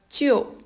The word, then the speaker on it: 旧: This is pronounced as 旧, which means old.